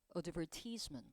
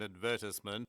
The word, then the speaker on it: advertisement: 여러분, advertisement는 미국식이고 영국 호주식으로는 이 단어 advertisement. 30-second advertisement. 알겠죠? advertisement. 이렇게 또 발음돼요.